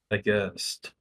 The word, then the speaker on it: aghast: When you start a phrase, you make that high. The audience looked aghast. So we're kind of going up and down and up like that.